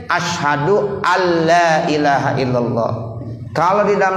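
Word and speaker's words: أَلَّا: Tuh batal gara-gara kita baca asyhadu an la ilaha illallah. Mestinya asyhadu alla, jangan an la. Ya, jadi nunnya nggak ada lagi. Ya, jadi nun mati ketemu lam berarti harus dibacanya alla, idgham bila ghunna.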